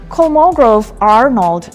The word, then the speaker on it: Kolmogorov-Arnold: A couple of a couple of years back a new design showed up called a Kolmogorov-Arnold network. That's how it's pronounced.